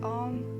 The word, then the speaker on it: Om: So to chant Om, we pronounce A-O-M, and we do this on an exhale.